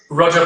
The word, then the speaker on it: Roja: Are you able to definitively tell us what the right pronunciation is? Roja Parfum. Roja Parfum.